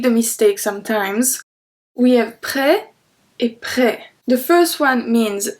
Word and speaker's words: prête: So when you want to say this one masculine, just remember that with the feminine it's gonna be prête. Prête. With a T, so we pronounce the T.